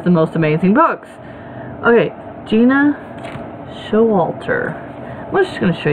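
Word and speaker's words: Gena Showalter: Okay, Gina Showalter.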